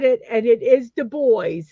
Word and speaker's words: Du Bois: it, and it is Du Bois. not Du They said Bois. they say they don't do it the fancy way. You pronounce it the way it's spelled, Du Bois.